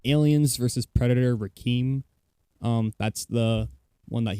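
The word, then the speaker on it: Requiem: In case you couldn't understand my dear friend Press Buttons, who does not know how to pronounce things, it's Aliens versus Predator Rake.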